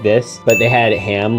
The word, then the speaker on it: Ham: And his name rhymes with Spam. Yeah, it's the evil Dr. Porkchop himself, Ham.